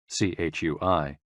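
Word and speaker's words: chuī: CHUI, pronounced like chui, with a forceful exhale, which is also associated with the kidneys.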